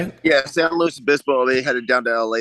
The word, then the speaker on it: San Luis Obispo: Yeah, San Luis Obispo.